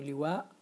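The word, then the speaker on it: لواء: you want Lua see when we pronounce the Hamza in the name liwa we have a a bush in ourselves to to pronounce the Hamza at the end again like in our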